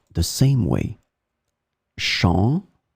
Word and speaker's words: champ: In this lesson, we will see two words that are written differently but pronounced the same way. Champ, champ.